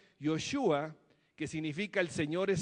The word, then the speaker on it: Joshua: dada por jesucristo y josué que en hebreo se pronuncia joshua que significa el señor